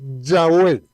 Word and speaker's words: Yahweh: Y vamos a seguir con otro nombre que aquí prácticamente hay tres maneras de poderlo pronunciar, de acuerdo, digamos, a los estudios que han hecho grandes biblistas. Y es Jehová de una parte, de otra parte Yahvé y de otra parte Yahweh.